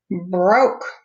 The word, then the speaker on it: broke: Broke. He broke his bike. Oh no. Broke. I don't hear the E at the end, but I hear the O, so that's a long O sound.